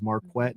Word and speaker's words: Marquett: you ain't gonna like tell him is marquette not marquette i won't even correct